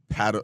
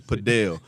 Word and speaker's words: padel: Paddle, listen, you gonna say paddle, but it's padel. Padel. You gotta say it like you got an accent, like you're from Spain or Argentina.